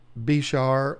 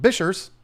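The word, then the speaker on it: bichir: I pronounce it biker. You might say Bishar, or you might be a weirdo like Tanner Serpa and call him Bishers. What? I say biker because I like motorcycles and I think it's cool to say biker.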